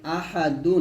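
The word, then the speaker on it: أَحَد: ডাল দুই পেশ দুন আহাদুন আছে এখানে যদি আমরা এখানে ওয়াকফু দেই তাহলে হবে আহাদ এর ডালটা কি হয়ে যাবে কলকলা হয়ে যাবে আহাদ আহাদ এরকম হবে তাহলে একসাথে হবে কুলহু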